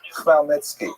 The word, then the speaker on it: Khmelnytsky: So this is just the way it's written, and if you understand Polish phonetics, you'll know that it's pronounced Khmelnytsky, which is also not so easy to pronounce, but that's not hard.